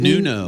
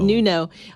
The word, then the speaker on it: Nuno: actually adding Nuno, how do you pronounce it? Nuno. Nuno.